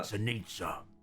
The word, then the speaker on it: Sanitza: Oh, Sanitza. Sanitza. I'm sorry. Yeah, but there's an I in there? Oh, yeah. It rhymes with pizza.